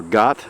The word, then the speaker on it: Gath: If you go on top of that hill, you can see the city of Gath, or Gath, as some pronounce it, Goliath's hometown, just a few miles on the other side.